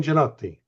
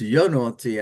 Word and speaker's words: Genotti: Gene Genotti. Yes, hello. This is Gene Genotti, as you said. I love the way you pronounce it. It's Yonotti, actually. Janotti. Yonotti.